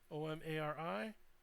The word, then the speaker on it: Omari: spell your name ok Omari oh ma RI and then Cody how